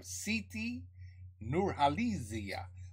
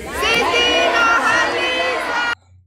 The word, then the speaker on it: Siti Nurhaliza: We have Siti Nurhaliza.